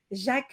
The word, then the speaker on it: Jack: Our minister is Jacques Lang. Even though it's spelled as Jack, we call him Jacques.